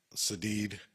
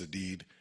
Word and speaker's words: Sadeed: And as a result, the grand jury has indicted Sadeed. I think I mispronounced it. It's Sadeed.